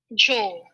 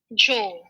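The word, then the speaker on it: Zhou: done here we go this is how it's pronounced joe joel kind of joe right okay so the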